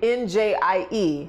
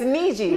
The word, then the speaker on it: Njie: thing with me when someone sees my name njie how would you how would you pronounce it um nj see what i'm saying so it's the same thing it's niji yeah so it's the